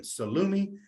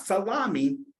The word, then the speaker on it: salumi: So Italian, salumi is Italian. And again, it refers to, it's not salami.